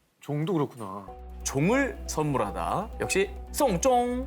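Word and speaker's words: 送钟: 이 발음이 장례를 치르다라는 뜻의 송쫑과 발음이 똑같습니다.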